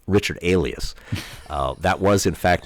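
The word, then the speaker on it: Aleas: on NPR and they said how do you pronounce this name I said Alias oh and they probably could have guessed that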